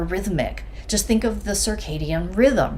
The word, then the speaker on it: circadian: what we've evolved on she's not even pronouncing it right eating it circadian not certainly yeah it's the circadian rhythm not the not sarcasm first time she's pronounced